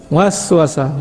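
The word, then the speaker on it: وسوسة: Was-wasa, was-wasa, was. You see the two syllables together?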